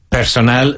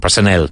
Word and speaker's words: personnel: Personal de plantilla. If in doubt, translate literally. Personal. Personnel. Not personal, personnel.